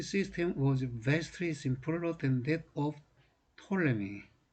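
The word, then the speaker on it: Ptolemy: 피해액이 수업 포토 레밍 우리는 프톨레미 라고 있는데 영어권에서는 잎이 입자가 묵음 이라네요 그래서 톨레미 라고 많이 있는 것 같아요 어쨌든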